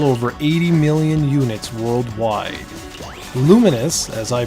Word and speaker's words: Lumines: managed to sell over 80 million units worldwide luminous as I pronounced it was one of the launch titles